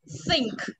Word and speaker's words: think: Còn TH trong trường hợp này phải đọc là đúng không? Đọc vào từ này, đọc nào. Think.